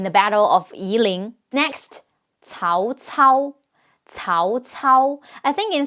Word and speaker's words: Cao Cao: Battle of iling next Tao Tao Tao Tao I think in some of the games some people call him cow cow right it's understandable considering how often C is pronounced as K in English fortunately that's never the